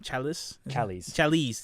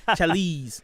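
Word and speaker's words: Challies: Tim, I think is pronounced his last name, Chalice. Dang, I always say it wrong. Chalice.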